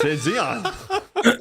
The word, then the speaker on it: Xeon: You What do said that right, and that's spelled with an X. Oh fuck me. It is. It's Xeon.